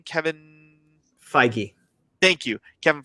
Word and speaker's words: Feige: Kevin Feige. Thank you, Kevin Feige.